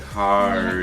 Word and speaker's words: hard: She was saying hard. Yes, there is the letter R in that word. Hard. But actually in New Zealand we don't pronounce it, we say hard. It's hard.